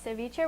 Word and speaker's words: ceviche: I, being American, said ceviche, but I saw that the correct pronunciation is Ceviche.